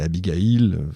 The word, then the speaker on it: Abigail: J'ai dit Abigael, c'est Abigail, on prononce comme on veut parce que ce qu'il attend à Philadelphie n'est rien de moins qu'une réunion inédite.